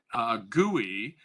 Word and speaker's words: GUI: running a you're probably used to running a gui that's how you pronounce gui graphical user interface that's the gui